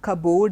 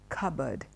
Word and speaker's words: cupboard: going to use so it's not carb old it is cupboard it's not board it is bird cupboard okay now the next